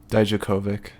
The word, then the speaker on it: Dijakovic: Dijakovic.